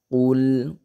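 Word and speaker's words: قُلْ: Jadi dibacanya kayak qul, qul. Nah, padahal itu salah. Jadi jangan sampai kata kulnya kule. Nah, jadi ada kayak kule seperti itu, tapi tidak boleh dipantulkan.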